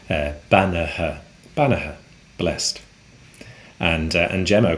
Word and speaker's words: beannaithe: And the answer to that is Bannaha. Bannaha. That's Beannaithe, which is spelt a little bit differently to what it sounds like. Bannaha.